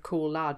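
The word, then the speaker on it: Cauld: and obviously i realize i'm reading out cool lad knowing how it's spelled because obviously i'm looking at the blog post that this is attached to if you're only listening to this and not reading it cold is actually spelled c-a-u-l-d and lad is vlad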